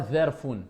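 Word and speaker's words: ظرف: Pas Zarfun. Sinon ça aurait été le Zel. Avec un point.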